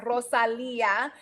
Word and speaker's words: Rosalia: So I like to tell people, like, it's Rosalia. It's two words in one, really, but it's Rose and Leah.